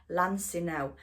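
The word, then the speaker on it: Lansinoh: I've gone for the Lancino. That's how you say it. Sorry guys, I've been pronouncing it all wrong.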